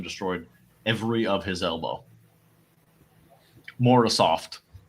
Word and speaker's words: Morozov: So next time I see him, I'll say Morozov, and they'll be like, "Damn!" No, don't say Morozov, that. But Morozov.